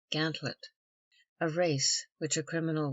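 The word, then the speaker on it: gantlope: with gerline which C Gant lope or G Lop commonly pronounced gantlet a race which a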